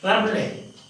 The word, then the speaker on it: Rabelais: Rabelais. The last syllable is lost.